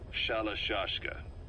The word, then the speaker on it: Shalashashka: Someone must have known about that, because somewhere along the line, Shashka got stuck on the end of Sharashka. The guerrillas were using the name amongst themselves, and by the time I got to hearing about it, pronunciation had wound up as Shalashashka.